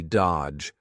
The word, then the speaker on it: dodge: Notice here the D is silent, the middle D, dodge, dodge his calls forever.